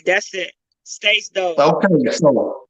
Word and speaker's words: Stace Dog: Spell it for him. STACDOG. Ain't that it, Jay? Yeah. STACDOG. Right, that's it. Stace Dog.